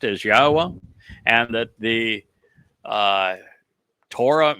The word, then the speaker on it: Yahweh: the fact that God's name is pronounced as Yahweh and that the uh Torah means teaching not